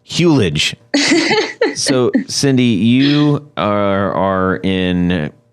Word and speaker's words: Hulej: And can you remind us how you pronounce your last name? Hulej. Hulej.